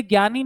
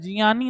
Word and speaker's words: ज्ञानी: कारण यह बना तो इसीलिए इसका उच्चारण इन दोनों के आधार पर ही तो होगा भाई तो यह क्या हुआ जिय ही हुआ है ना इसको जिय बोला जाता है इसीलिए ज्ञानी नहीं होता है जियानी होता है जियानी का